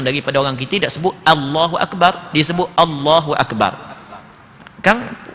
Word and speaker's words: Allahu Akbar: Perhati molek cuba perhati molek kadang-kadang tak sedar salah Allahu Akbar. Tak sedar sekarang. Bukan O, A.